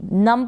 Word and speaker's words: numb: फिर ये है NUMB, नम पढ़ेंगे, इसको नम्ब नहीं पढ़ेंगे, नम का मतलब है